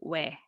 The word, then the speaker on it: ㅚ: So this one is O plus E, but it over time it changed that we don't distinguish this sound but pronounce same as this one. So this O plus E is also we.